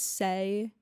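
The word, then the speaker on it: Saie: makeup I love this say is how you pronounce it say s-a-i-e I don't know but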